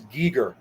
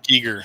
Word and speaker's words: Giger: me going like this it's a giger eager sorry oh yes because